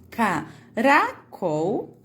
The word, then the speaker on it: caracol: O R, ele é mais suave.